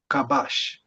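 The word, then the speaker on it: כבש: If you were to pronounce this word reading from right to left as the Hebrew language does like udu, it would create the sound kabash or kabash or kabash.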